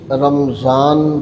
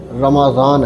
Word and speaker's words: رمضان: میں ذکر فرمایا ہے۔ عام طور پہ اسے رمضان کہا جاتا ہے، جبکہ یہ لفظ رمضان نہیں ہے، رمضان ہے، یعنی اس کے میم پر زبر ہے، کیونکہ قرآن مجید کا جو تلفظ ہے وہ بھی رمضان ہے۔ اس کا معنی ہے